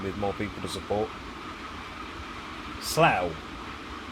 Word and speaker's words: Slough: more people to support Slough there it's pronounced or Slough if you want to be really you know stupid and annoy people at conference now 84 miles now